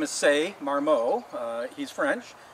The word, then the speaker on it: Ce Marmot: His real name is Ce Marmot. He's French. It's spelled C-E and then M-A-R-M-O-T. And so his real name is Ce Marmot.